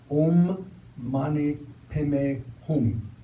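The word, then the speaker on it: Om mani padme hum: money pom a home all money actually own money him a home one is how we pronounce it own money pay me home this translates as the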